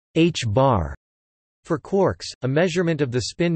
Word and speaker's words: ħ: Spin can be represented by a vector whose length is measured in units of the reduced Planck constant h, pronounced h-bar.